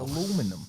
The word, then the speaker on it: aluminum: spell it in America. He doesn't know. Aluminum.